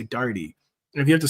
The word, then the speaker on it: Daugherty: Someone's running, is it Daugherty or Daugherty? It is neither. We insist on the third, even more difficult, even less common pronunciation of Daugherty.